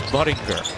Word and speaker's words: Buttinger: And it's not how you pronounce his last name. It's Buttinger.